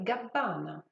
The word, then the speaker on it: Gabbana: Même chose pour Gabbana, il y a deux B. Comme pour Gucci, Gabbana, les deux B doivent être prononcés. Donc prononcez Dolce et Gabbana.